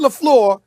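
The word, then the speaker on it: LaFleur: celebrated guy without a job did did I pronounce his name correctly Molly I just want to make sure I said Matt laflor I didn't say I said lafl okay Matt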